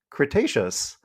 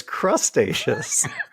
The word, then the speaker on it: Cretaceous: this episode's UMES Dwayne not once but twice pronounced Cretaceous as crustaceous we were laughing so hard we had to